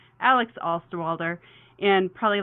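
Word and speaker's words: Osterwalder: many many many years to learn how to pronounce his name correctly alex alsterwalder and probably like 740 of his geeky friends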